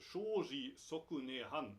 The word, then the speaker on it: 生死即涅槃: In Japanese, it's pronounced Shoji Sokune Han, which means Samsara and Nirvana are one.